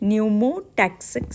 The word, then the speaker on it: pneumotaxic: It is P is silent, pneumotaxic center.